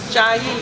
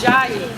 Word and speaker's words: Jai: This is one of Jai, even though it's CH. That's why that when you spell it, it doesn't always say the same thing, but it's spelled CH, but it's Jai.